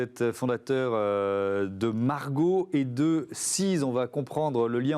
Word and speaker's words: C2ES: Parce que ça s'écrit C2ES. Tout à fait. Alors Seez, c'est Clean Earth Enjoy Sun.